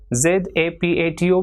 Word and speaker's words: zapato: For example, ZAPATO will be pronounced as zapato.